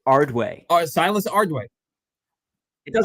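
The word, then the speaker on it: Ardoin: the catchers Silas Ardo is it Ard how do you pronounce his name I I saw an article the other day I think it's ardway silus ardway does like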